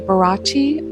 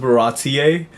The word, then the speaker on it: Baratie: It's pronounced Baratier. I think that's the first time I've ever heard anybody say baratti. That's interesting. But it's supposed to be French.